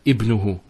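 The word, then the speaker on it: ابنه: the sentence begins with ibnuhu. We say ibnuhu Muhammadun, for example. His son is Muhammad. Notice here it's in the beginning of the sentence. So we pronounce it.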